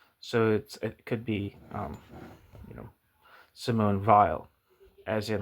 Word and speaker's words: Simone Weil: I think Weil's the German name, but I think it's pronounced in, I think a lot of people in France would pronounce it Weil. I'm not sure. Here's why I'm saying that. If you type in Simone Weil in Google Translate for France, she was French, you'll say Simone Weil.